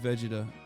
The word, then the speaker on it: Vegeta: should be Vegeta yes I said Vegeta that's the right way to say it I I do love